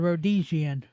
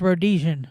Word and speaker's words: Rhodesian: You said Rhdesian. Sound it out. It's Rhdesian. Ro DN. Is there an I there? It's just pronounced Rhodesian. Okay.